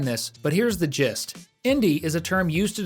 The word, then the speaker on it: Indy: actually a clever pun her name is spelled i n d y but when spoken it sounds very similar to a globally recognized word Indie spelled i n d i e there's a long explanation